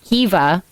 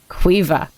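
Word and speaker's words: Caoimhe: Or if you want to have, because that's another one that's contentious based on where you're from. That's either Kiva or Quiva.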